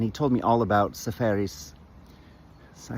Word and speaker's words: Seferis: Um anyway we had lunch one day and he told me all about Sepharis.